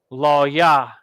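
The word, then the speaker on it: לוי: the gnaw there Levi law yah the Haitians with Allah and a yah but the law and the wa are connected so it's Lao Yao yeah all right Simeon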